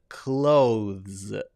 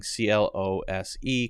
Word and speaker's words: clothes: Then you do have that clothes. There's the th and then the z. However, I would guess if you were to go around to 98.4% of native English speakers, they would not be saying clothes. They would be saying CLOSE, clothes. 98.4% of native English speakers just say the word CLOSE, clothes.